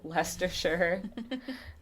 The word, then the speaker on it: Leicestershire: england and i looked up how to say lester sure so that's what google said so i'm sorry